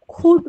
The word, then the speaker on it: could: হ্যাঁ হ্যাঁ, আপনি কি খুড বলতেছেন? খুড? হ্যাঁ খুড, আমরা কে কে খ উচ্চারণ করছি, সো এই জন্য এটা কুড না বলে খুড বলবো, হ্যাঁ এটাই সঠিক উচ্চারণ, খুড।